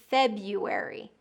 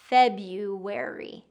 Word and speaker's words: February: Okay, the next one is February. Okay, there's an extra R in the spelling of this word that doesn't get pronounced.